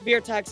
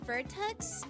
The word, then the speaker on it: Virtux: if that's or uh beerx I'm sorry I can't pronounce it I'm stupid yeah um it's pronounced vertex and um as for